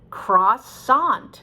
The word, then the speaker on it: croissant: french word croissant okay so i have no problem with it cross sand it's perfectly natural in english but some people look